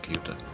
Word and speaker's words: Ceuta: However, this is pronounced Ceuta.